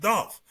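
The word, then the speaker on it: doff: It's a verb pronounced dolph meaning to politely tip hat in a respectful gesture or manner.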